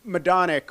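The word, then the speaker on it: Majdanek: like well for instance madic which is spelled weird in English right well it's polish so it's Maj is my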